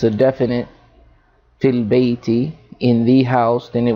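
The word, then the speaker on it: فِي البَيْتِ: And whenever we have a preposition coming before the word, we're going to assimilate, because this is a hamzatul wasl, and that goes over this alif. It is not pronounced, so we'll say fil bayti.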